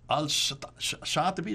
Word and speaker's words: al-Shatibi: Al-Shatibi, is that how you pronounce it?